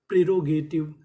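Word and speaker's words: prerogative: तो यहां पे टी आई वी का उच्चारण करेंगे। इ का उच्चारण नहीं करेंगे। तो पूरी मीनिंग प्रीोगेटिव। प्रेरोगेटिव।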